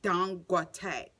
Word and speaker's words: Dangote: It's not Dan. It's Dangote, you know.